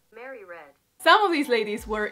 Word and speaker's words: Mary Read: how to pronounce it how do i pronounce her name mary reed or mary red how do you pronounce your name oh mary read some of these ladies